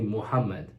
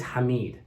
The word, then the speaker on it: Hamid: said first of all they kept calling me Muhammad my name is not hard to pronounce my name is Hamid haid it's easy it's not